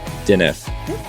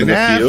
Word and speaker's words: Dineff: We have another interview, and it's, Megan Dineff. Said it right. Whoa. One of the few. One Dineff, of the few. Dineff.